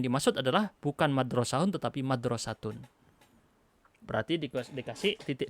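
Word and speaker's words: مدرسة: Madrasahun nggak ada artinya. Gitu ya. Binuk totaini dikasih 2 titik. Nuktotain 2 titik. Watun taku hakadha diucapkan madrasatun.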